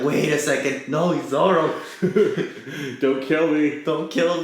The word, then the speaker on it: Zoro: Yeah. Zolo. I grew up with the 4Kids, so like, I'm like, oh yeah, and then there's Zoro. I know how it's actually pronounced.